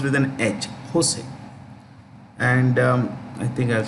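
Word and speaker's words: José: um San Jose the J in Spanish is pronounced with an edge Jose and um I think I should clear this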